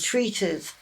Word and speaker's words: treatise: So it's a treatise of Japanning and varnishing.